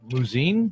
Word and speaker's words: Muzzin: know thoughts of the Muzzin deal. Is this Muzzin deal to Toronto? You know anything about that? Yeah. Did I pronounce it correctly? Is it Muzzin? Muzzin. Okay. Muzzin. Pronounced like it sounds.